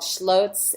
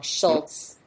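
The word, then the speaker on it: Scholz: So, what they did in response is that they had this creative agency called Schlloz and uh I think I pronounced it wrong, Schultz rather, and Vulmer.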